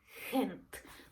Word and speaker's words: Gent: sing like for example the city in Belgium it's Kent hent but in in but in the Netherlands when they pronounce gent which I would pronounce it in English gent they would pronounce it as hint that's not the proper